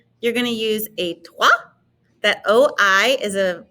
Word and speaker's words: toi: going to use a toi that oh i is a pretty um it's often used in french it's the o i wa and so it's notice